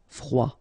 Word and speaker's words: froid: Final D not pronounced. Froid.